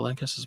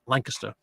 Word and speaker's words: Lancaster: and all that so it's just a regional thing they pronounce it Lancaster which is actually very British if you think about